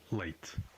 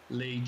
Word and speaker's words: Leite: Aside from the different vocabulary, notice the different pronunciation of the word for milk. Leite. Leite. Hey, Casey. Again, we hear the difference in how TE is pronounced when unstressed.